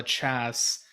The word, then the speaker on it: La Chasse: So the owner of the club in London called La Chasse. La Intro- Chasse. oh, okay. I've been pronouncing it incorrect this whole time.